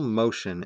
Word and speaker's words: Moschen: Michael Motion, and it's not spelled like motion. The word motion. It's Moschen.